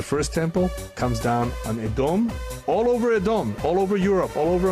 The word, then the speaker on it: Edom: And Edom, or as Americans pronounce it, Edom, Edom, is still the biblical enemy of Yaakov.